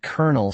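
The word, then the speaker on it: kernel: Colonel and colonel sound alike.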